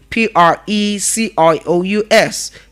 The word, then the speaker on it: Precious: So you don't open all your mouth and say precious. It's not precious. It is precious.